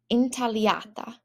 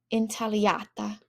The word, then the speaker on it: intagliata: So zucca intagliata. So again, GLs do not sound like a GL, but sound like an LY. Let's say that one again because it was a bit hard. Zucca intagliata.